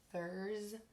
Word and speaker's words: Thurs: Thurs. And S is stealing the sound from Z in this word. It's not saying S.